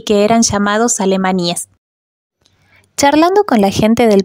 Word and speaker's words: Alemanía: pronto la oscuridad porque esta localidad se llama alemanía con acento en la i nadie sabe bien Por